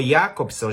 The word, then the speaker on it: Jakobson: O Roman Jakobson, ou Jakobson, já que ele é russo, né? Tem uma pronúncia completamente diferente.